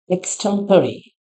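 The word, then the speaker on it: extraordinary: लेकिन ऐसा नहीं है द राइट प्रोनंसिएशन जब आप Google करेंगे इस प्रोनंसिएशन इस वर्ड का प्रोनंसिएशन के लिए तो इसका प्रोनंसिएशन क्या है ना we will pronounce it इट एज एक्सटेंरी।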